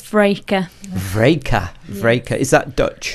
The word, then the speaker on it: Vreeke: It's Vreeke.